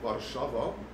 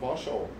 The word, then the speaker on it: Warszawa: So the original version about how you pronounce it, it's Cannabis in Warszawa. Warszawa is the original Polish name, but you can also call it Warsaw.